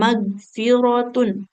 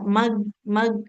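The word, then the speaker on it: مَغْفِرَةٌ: Kemudian, nah selain itu hati-hati untuk sahabat Al-Quran semua dalam pengucapan huruf ghain. Nah, nggak boleh terlalu mirip g ya, tidak. Wa magfiratun. Tidak mag. Nah, tapi kan huruf ghain itu di pangkal di tenggorokan yang ujung ya.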